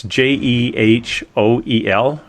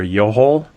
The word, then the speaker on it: Jehoel: And I kept the pronouncing of his name is it's Jehoel. It's like a Jehol or Yohol.